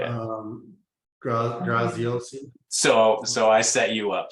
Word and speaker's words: Graziosi: Graziosi.